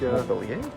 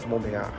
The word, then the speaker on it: Montbéliard: There's one in Montbéliard, or I don't know how you pronounce this stuff over here. I think. Montpellier? Yeah, I think it's at the Spanish border. No, Montbéliard.